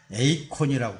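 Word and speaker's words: εἰκών: 이 헬라어입니다. 에이콘이라고 불러져요.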